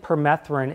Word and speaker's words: permethrin: I was going to ask if it's been thought about to spray permethrin, is that how you say it? Permethrin, yeah. Permethrin.